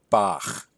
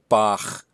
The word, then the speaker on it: Bach: So it's this ch sound that we get if we pronounce Bach the way the Germans do.